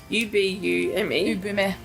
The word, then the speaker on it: ubume: To represent Momo, the accounts use the picture of a sculpture of an ubumi. How do you say it? I know it's a Japanese term. Ubume.